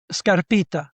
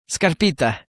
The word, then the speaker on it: Scarpitta: Scarpita. How do you pronounce that in Italian? Scar Scarpita. Scarpita. Scarpita.